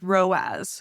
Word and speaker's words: ROAS: Another acronym that we hear a lot in the ads world is ROAS. It's spelled r o a s, and it stands for return on ad spend.